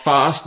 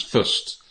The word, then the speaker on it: breakfast: It's not breakfast, okay? It's breakfast. Breakfast. So not break, it's break. Break. And not breakfast. It's not fast, it's fust. Breakfast. Breakfast.